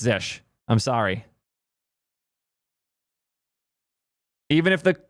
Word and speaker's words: zsh: It's Zish.